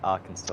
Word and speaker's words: Arkansas: Arizona and Arkansas. Oh, of course, Arizona. I say Arkansas, of course it doesn't sound like Kansas, but obviously it's spelt similarly.